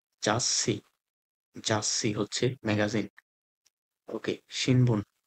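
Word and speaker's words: ざっし: এ তসু যুক্ত বর্ণ যখন থাকবে তখন এটার তারপরে যে ওয়ার্ডটা থাকবে এটা ডাবল উচ্চারণ হবে। যেমন জাসসি জাসসি জাসসি হচ্ছে ম্যাগাজিন।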